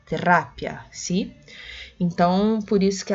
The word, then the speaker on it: terapia: Porque no português a gente fala terapia, a sílaba tônica é o pi. Já no espanhol, terá, é o ra, terapia, sim.